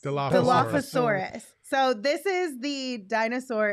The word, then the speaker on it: Dilophosaurus: Philosophosaurus. Dilophosaurus.